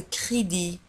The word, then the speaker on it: crédit: ولاحظوا على أن crédit نجد في آخر الكلمة T. Le crédit. Un crédit. De crédit ولكن T لا تنطق.